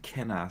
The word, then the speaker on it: Kena: i go for but i heard an interview with the developer uh and cheaper now with one of the developers and she pronounced it kenner so that's stuck in